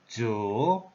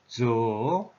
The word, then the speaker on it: 主: A Chinese pronunciation is Zhu, Zhu, yeah, tone number 3.